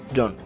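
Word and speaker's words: 四: Y el número cuatro se pronuncia Jon, como Jonji, el otro hermano de Sanji.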